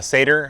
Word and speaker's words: Sadr: Uh seder, I believe, is how it's pronounced.